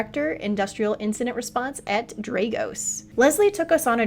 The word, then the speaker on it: Dragos: I've heard it yeah I think I've been pronouncing it wrong for a while a lot of people do it's a it's dros the name actually came from the never winner